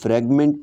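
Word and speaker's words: Fragment: ठीक है यहां पे इस तरीके से इसका प्रोनाउंस है तो फ्रेगमेंट पे आपने क्लिक कर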